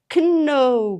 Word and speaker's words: know: N үсгийн өмнө орсон K үсгийг хизээч уншдаггүй. No, know гэж уншихгүй. No, мэднэ.